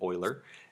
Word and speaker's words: Euler: is called is the Euler line it's spelled eul ER it's named for a mathematician Leonhard Euler and even though it's spelled weird that is again that's how we're gonna pronounce it oiler and it just describes